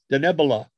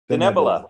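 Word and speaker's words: Denebola: Help me with my pronunciation, Mr. President. In the middle, Denebula? Denebula. Denebula.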